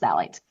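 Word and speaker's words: phthalates: of BHA and phalates I hope that I'm pronouncing that right but I'm pretty sure it's pronounced phalates and so there was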